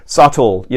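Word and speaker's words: subtle: 발음 주의 하시면 좋겠어요 싸 토 2 라는 표현인데 여러분들이 싸 트리 라는 표현에서 비를 발음 하시면 안돼요 비늘 쌓여야 묵음 이구요 써 2d 퍼스 치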